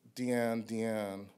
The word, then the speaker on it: Diane: I pronounced Diane, the way her mother preferred, the French pronunciation, because she was a little pretentious.